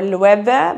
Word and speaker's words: Loewe: the products, is the Loewe logo. So, or Loewe, but it's pronounced Loewe because it's a German name.